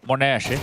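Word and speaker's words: m0NESY: Uh, someone in chat is asking obviously Monese the way that we're pronouncing it, that is the official pronunciation. Yeah, that's what he's asked for.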